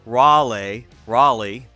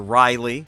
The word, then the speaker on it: Raleigh: X, David Welker, who corrected my decades-old error of pronouncing Sir Walter Raleigh as Sir Walter Riley.